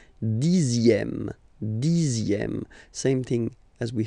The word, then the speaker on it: dixième: Le dixième, so remember, even if you've got this z, X here, you pronounce it z, dixième, dixième.